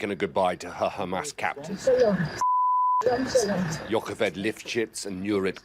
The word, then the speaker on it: Hamas: want you to know you're mispronouncing Hamas in the very particular way that Israeli officials mispronounce it. It's not a ha-sound. I didn't say Hamas.